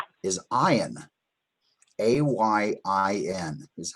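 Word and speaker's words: עין: It has a numerical value of 70, and it's a silent letter, just like the very first letter, the Aleph that we talked about earlier.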